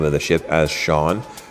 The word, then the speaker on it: Shoun: For consistency, I will pronounce the name of the ship as Shaun. It was pronounced Shaun, Shaun, and Sha uh on the various discussions I had with different people.